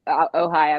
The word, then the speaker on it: Ojai: in it starts in, is this Ojai, or is the J pronounced or not pronounced? I don't know. California. Ohio, I believe, is correct.